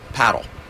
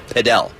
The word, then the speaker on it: padel: to pronounce the name around the world it's pronounced paddle but here in the United States we have other paddle